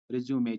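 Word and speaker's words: résumé: Yes, British pronunciation is रिज्यूमे जब ये noun बनता है।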